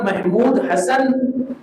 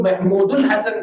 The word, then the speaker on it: محمود حسن: حسن دیوبندی رحمۃ اللہ۔ مولانا محمود حسن یہ اصل صحیح تلفظ ہے، بعض لوگ محمود الحسن کہتے ہیں، شیخ الہند محمود الحسن